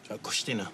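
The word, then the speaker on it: Cois Tine: How do you pronounce the name itself? Koshtina.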